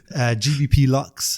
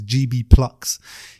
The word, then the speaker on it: GBP Lux: People think it's GB Plux. It's actually not. It's GBP, which is UK pound sign. Basically. Exactly. And then Lux, which is luxury. So GBP Lux.